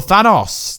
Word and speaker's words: Thanos: But remember, the Mad Titan Thanos, or Thanos, the correct way to say it, is definitely coming.